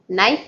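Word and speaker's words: knife: चाकू को नाइफ कहेंगे, केस साइलेंट रहेगा, नाइफ.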